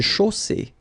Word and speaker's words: chaussée: Une chaussée. Okay, here, final not pronounced. And then you get the double S between two vowels, so it's really strong. I mean, the S is s. Okay, so une chaussée.